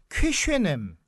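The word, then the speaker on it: Köszönöm: 그리고 발음이 좀 어려운데 감사합니다가 이렇게 어려운 거 제가 처음 봤습니다. 이제 감사합니다는 다 쉬운데 헝가리의 감사합니다는 그 쾌쉐넴.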